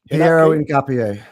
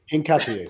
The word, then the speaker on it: Piero Hincapié: Piero Hincapié. Hincapié.